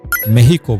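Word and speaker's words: México: নাম্বারট মেক্সিকো city. যদিও মেক্সিকানরা এই নামটির উচ্চারণ করে থাকে মেহিকো বলে।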